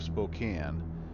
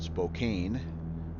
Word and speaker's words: Spokane: pick up here is the city of Spokane, which in the intro I called Spokane, which nothing makes you sound like a guy that is not from around here than mispronouncing things.